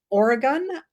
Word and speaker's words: Oregon: Coriolis, Oregon, Thousand Oaks, California. Please note I pronounced Oregon correctly there, and New York.